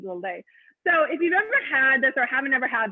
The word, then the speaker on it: Lillet: Now they don't pronounce the T, Lillet.